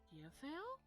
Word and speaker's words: Yofiel: Yofiel? Did I say it right? You just say yo, and that'll work. That's about to be her nickname. I did say it right then, so Yofiel. I Yofiel. said it right.